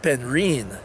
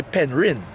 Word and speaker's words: Penrhyn: that we know know people call it ten reen but it's actually Penrhyn yes ven p en h ry head woo that's how it's spelled that somebody's me that